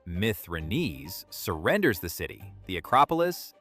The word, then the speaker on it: Mithridates: Arrian says the commander Mithridates, pronounced Mithridates, surrenders the city, the Acropolis, and stored money.